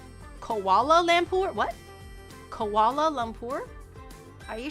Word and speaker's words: Kuala Lumpur: Kuala Lumpur. I think I said that right. I think I said that right. Kuala Lumpur?